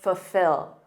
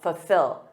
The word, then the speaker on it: fulfill: the meaning of this native speakers often drop that first l I do and say fulfill F so instead of saying full with that dark L we commonly say F fulfill fulfill it's a lot easier to say isn't it and that's